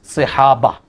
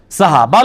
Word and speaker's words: صحابہ: یہ تو غلط ہے بھائی، آپ غلط بول رہے ہیں۔ لفظ صحابہ ہے، سواد کے نیچے زیر ہے، صحابہ، ٹھیک ہے، صحابہ لفظ نہیں ہے، ٹھیک